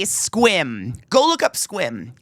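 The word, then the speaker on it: Sequim: They would say squim. Go look up squim. It's not spelled s q u i m. It looks like sequum, but the way you pronounce it is squim.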